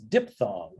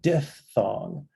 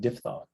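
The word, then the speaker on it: diphthong: facts out there like PHT is pronounced F not P am I the only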